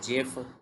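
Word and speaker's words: GIF: it change format and pronounce S जिफ बाय जिफ जो है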